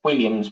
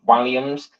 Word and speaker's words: Walliams: way you got the David walliams you said Williams but it's actually pronounced walliams there's a w-a-l-l um but that book you